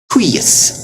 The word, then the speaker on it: huius: And then last off, UI is rare, but huius, it's like gooey. Huius, but even this, it sounds like a short U and then a long I.